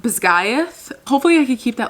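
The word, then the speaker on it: Basgiath: In my head, I've been saying Bazgath because of the I A th Basgath. She said it's pronounced Bisgayth. Hopefully, I could keep that like in my head. Bisgayth.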